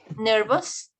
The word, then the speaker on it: nervous: Nervous? Yes. Yes, you feel nervous. La pronunciación, muchachos, es como una A con S al final, nervous.